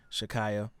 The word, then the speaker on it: Sha'Carri: so especially when you tie it into the sports world, for example, the Olympic sprinter Shakaya, right? Is that how you pronounce her name? Sha'Carri. Shakari, Yeah.